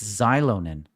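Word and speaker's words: Xilonen: thanks for the direction it's xylon in is it I thought they pronounced it some other way I was I was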